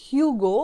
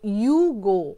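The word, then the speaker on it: Hugo: তার নাম হচ্ছে ইউগো যেটাকে ধরো ইংরেজিতে যদি আমি প্রোনাউন্স করি তাহলে ইটস হিউগো বাট যেটা তোমরা হিউগো বস বলে একটা ব্র্যান্ড আছে জানো বাট in French pronounce ইউগো actually it's pronounce like that pronounce করে না সো রেমির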